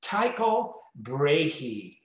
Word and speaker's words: Tycho Brahe: you well let me say it first it's taiko brehee just in case let me spell it it's t-y-c-h-o last name b-r-a-h-e and